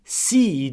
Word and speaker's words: sii: Si devi pronunciare tutte e due le I. È molto particolare. Si per esempio, si gentile con tutti. Sii gentile con tutti.